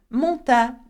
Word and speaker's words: montagne: Do not pronounce gonna, okay? It does not exist in French. Instead, you say ni and whatever vowel comes afterwards. Okay, have a look at this word. La montagne.